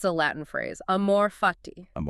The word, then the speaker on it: amor fati: So the central concept, it's a Latin phrase, amorphati. Amorati. It's spelled A M O R F A T I. And you'd say it, amorph. That's it. Amore fati.